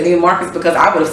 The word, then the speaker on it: Neiman Marcus: Neiman Marcus?